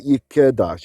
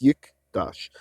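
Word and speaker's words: יִקְדַּשׁ: it's silent like that Yik it's not Yik Das it's Yik Dash and so that's the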